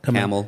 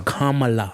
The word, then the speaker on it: Kamala: Let me correct you there. Kamala. What'd I say? Kamala. Camel. It's Kamala.